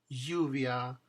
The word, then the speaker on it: lluvia: Yuca, lluvia. Yuca, lluvia. Finally, double L also happens in the middle of the word, and it's pronounced the same way. A little friction, little y.